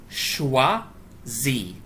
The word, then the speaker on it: choisis: The je form, you cross off the R and you replace it with an S, and it's pronounced like this. Choisi.